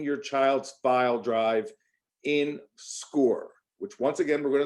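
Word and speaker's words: Scoir: okay we are using this new program called score and it's spelled s-c-o-i-r we are trying to get all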